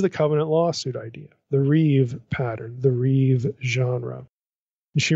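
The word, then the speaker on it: ריב: this is heber terminology the reeve that's rib but you pronounce it reeve like it's riv the reeve pattern reeve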